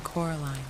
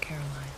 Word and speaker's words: Coraline: they get things wrong they got your name wrong you know they kept saying Coraline not Caroline not Caroline at all he picked up